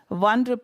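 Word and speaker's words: one: coin அப்படி இருக்குன்னு வச்சுக்கோங்களேன் அது வந்து ஓ அப்படி சொல்றது இல்லை அது தப்பு அது ஒன் சொல்லக்கூடாது அது ஒன் வன் காயின் அப்படிதான் சொல்லணும் அதனால ஏ தான் போடணும் ₹1 காயின் அது ஓ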